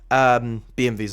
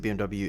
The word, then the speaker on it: BMW: If I switch between saying BMW and BMV, apologies. BMVs are German way to pronounce it. BMW is the English way.